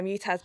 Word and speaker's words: Mutaz: these or how do you say his name mutaz mataz yeah mutaz bash him yeah he's wearing a full Airy